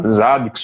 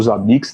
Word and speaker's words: Zabbix: monitoramento, que seja PRTG, seja Zabbix ou Zabbix, né, como alguns pronunciam aí de acordo com a peculiaridade, ou seja o Dedude,